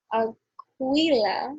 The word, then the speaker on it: Aquila: So Aquila, if I'm saying it correctly, and if I'm not, oh well, it's spelled Aquila. LA like apple.